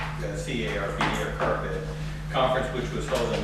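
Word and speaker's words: CARPD: a california association of recreational park district they pronounce the c-a-r-p or carpet conference which was held in monterey and uh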